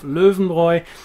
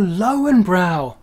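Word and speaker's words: Löwenbräu: and actually ordered some asked for some northern boys cans of luvenboy and didn't really get very far because the shop assistant had no idea what he was talking about until he pointed to the cans of oh lowenbrow well that's left me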